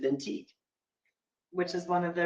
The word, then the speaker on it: Vintique: And that rhymes with Vintique.